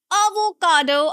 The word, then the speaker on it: avocado: I know it's tempting to say avocado because of the spelling. There is an O, but no, it's not pronounced as avocado. No, listen carefully. It's avocado. Avocado. It's a sound. A schwa sound. Avocado. Now there are four syllables and the stress is on the third syllable.